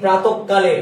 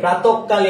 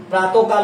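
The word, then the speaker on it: প্রাতঃকাল: ভর্তি পরীক্ষার জন্য গুরুত্বপূর্ণ প্রাতককাল বিসর্গের পরবরণ ডাবল উচ্চারিত হবে প্রাতকাল না প্রাতককাল প্রাতককাল ক ডাবল হবে বিসর্গের পরবরণ ডাবল হবে বলুন প্রাতককাল প্রাতককাল প্রাতককাল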